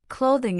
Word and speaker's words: clothing: Clothing is pronounced cloth-ing, with stress on the first syllable.